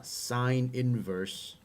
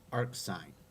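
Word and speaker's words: sin⁻¹: sine inverse this definition this is not sine to the negative one this is pronounced uh sine inverse sine inverse of x and you can all i've also heard this pronounced arc sine arc sine of x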